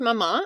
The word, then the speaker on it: Maman: And the name, we were touching on it before we started recording, pronounced Maman, and it actually means mother in French, which not a lot of people know.